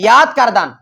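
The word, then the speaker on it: یاد کردن: আরেকটা আছে ইয়াদ কারদান, ইয়াদ কারদান মানে স্মরণ করা, উল্লেখ করা। এটা আমরা ফার্সিতে সঠিকভাবে উচ্চারণ করলে ইয়দ কারদান। কি কারদান? কারণ কোন হরফ প্লাস আলিফ হলে অ উচ্চারণ হয়, ইয়দ কারদান।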